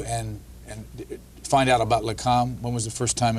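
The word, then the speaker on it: Lakam: only got 18 years I know I'm not going to pronounce this right Lam yes is that right yes uh that's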